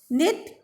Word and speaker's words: knit: Knit, K is silent.